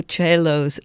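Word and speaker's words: Coelho: are things like Paulo Cello's The Alchemist and cello is spelled c o e l h o in which the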